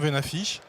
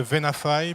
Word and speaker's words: Venafi: détail sur la plateforme v n'affiche on ne soyez pas choqué si vous entendez aussi parler de van a failli parce que les américains prononce veine a failli épaves et nafie et qu'est ce que